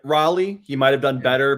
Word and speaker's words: Raleigh: There might have been confusion too, because Luke Rayleigh might have gotten the alarm since you pronounced Raleigh like Riley.